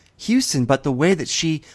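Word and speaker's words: Huston: saw this with Stacie Howard she said Jack hustin even though it's pronounced Houston but the way that she mispronounced it it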